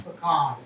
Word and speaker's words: pecan: A half a teaspoon in both Is it pecan or pecan? pecan. It's pecan. It's not pecan? Most people call it pecan, but it's pecan. That's the right way to pronounce it.